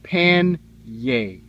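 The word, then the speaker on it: panniers: The correct pronunciation for saddlebags, according to word theologians, is pan-yay. Kind of like, they don't say it this way, but kind of like frying pan.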